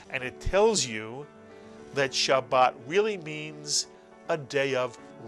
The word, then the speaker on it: Shabbat: Shabbat very very good it is a two vowel word so it's a two syal word and Shabbat is the Sabbath in